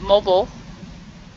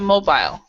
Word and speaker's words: mobile: In American English, we will pronounce it mobile, a mobile phone, but in British English, it's a mobile.